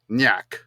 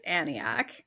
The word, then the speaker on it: Aniak: I'm just gonna go with Nyak. Okay. Just the yeah. A is silent. Nyak. The A is silent. Yeah. Like Nyet. Nyak. Yeah, I think Jordan's right. I think it's Aniak. You guys are correct. It's Aniak.